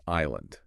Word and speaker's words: island: And then another example is island. Okay. So, it gained a silent s because the French aisle had one.